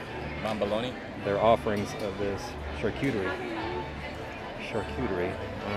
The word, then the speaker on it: charcuterie: So charcuterie. Charcuterie. Charcuterie. Charcuterie. The correct way to pronounce that.